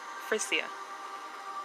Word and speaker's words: Frisia: Sweden, Lower Saxony, and I believe this is pronounced Frisia, by Germanic tribes known as Saxons, Jutes, and Angles.